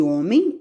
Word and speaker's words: homem: Aí, o que acontece? Ele fica mudo, é como se a boquinha dele, tivesse mudinha, não vai falar nada. Então, o H, ele vai ficar mudo quando ele chegar em primeiro na palavra.